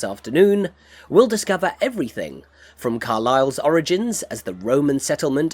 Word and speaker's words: Carlisle: Welcome to Carlisle, a historic English city located... What did I say? So the S is silent.